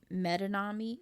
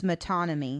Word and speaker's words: metonymy: heard of before uh metanami did i say it right um i believe it's metonymy metonymy thank you yeah i've